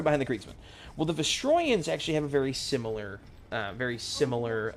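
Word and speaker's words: Vostroyans: Now the Vasrians are based sorry Vestroyans. I forget there's a pronunciation. I've always I've always called them Vastrians because that's how I've always read it as a kid.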